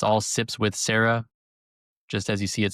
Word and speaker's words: Serra: spell it right because a lot of people say sips with Sierra or they they'll spell it sips with s a r a h like Sarah, like the woman's name Sarah, but this is s e r r a huniperosa.